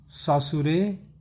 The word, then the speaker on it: Saussure: सासुरे, pronunciation देख लीजिएगा, सासुरे।